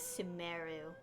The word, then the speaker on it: Sumeru: go to sumaru sumaru i'll keep pronouncing it em emphasizing it so i'm pronouncing as sumeru we've run into loads